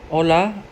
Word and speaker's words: hola: De cara B, hola, ejemplo, hola, me llamo Anderson, and it says an alert, the H is always silent in Spanish, no?